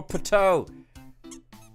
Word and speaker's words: Pateau: Waiting for Pateau. And it rhymes with Godot.